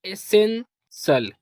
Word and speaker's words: essential: SEN इसको पढ़ेंगे सेन। और TIAL इसको पढ़ेंगे सल। क्या पढ़ेंगे? सल। तो ये हो जाएगा एसेंसल।